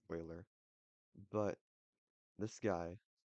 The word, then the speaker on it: Euler: Alright, so today we're going to be covering Euler's method, I think it's pronounced Euler, but this guy not only has his own number, but he has his own method.